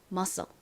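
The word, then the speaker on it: muscle: 소리가 나지 않아요 그러니까이 단어를 읽어보면 musle이 되죠 musle musle 의미가 뭘까요 은 근육을 의미하는 단어입니다 근육 자 발음 따라해 보세요 근육 musle 한 번 더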